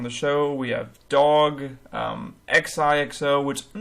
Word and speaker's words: Xixo: I was just informed right now that it's like Xixo.